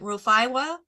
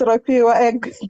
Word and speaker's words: Rafiwa: Is it Rufaiwa? Rufaiwa? Go ahead and it's Rafiwa.